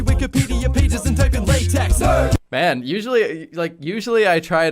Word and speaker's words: LaTeX: But I just once you think of a latex joke, it's not even pronounced that way. It's latex or latex is the official way to pronounce latex.